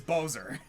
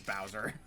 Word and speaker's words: Bowser: like okay so his name is Bozer but I guess it's also like take a bow yeah yeah it's kind of both and then and then I heard and then I heard Mario actually pronounce it and I'm oh it is Bowser yeah no I get